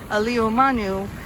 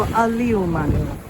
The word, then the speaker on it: Āliumanu: difference in meaning so today it's known as aliomanu as opposed to a liuman so you can hear the slight difference in pronunciation but this is what